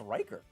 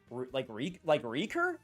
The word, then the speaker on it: Riker: But also, how else would you pronounce Riker? Like, right here? Like Reeker? Like R-E-E?